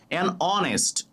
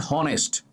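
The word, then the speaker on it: honest: উচ্চারণটা এ উচ্চারণ হয়েছে। এইজন্য এন বসেছে। অনেস্ট অনেস্ট নট হনেস্ট অনেস্ট অনেস্ট উচ্চারণটা অ হয়েছে তাই এন হবে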